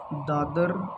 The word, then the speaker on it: दादरा: मेरी बात को समझो, ये जो ए है ना ये साइलेंट में होता है, ठीक है? क्लियर है सभी को? लिखेंगे दादरा ही, बट इसको पढ़ेंगे दादर।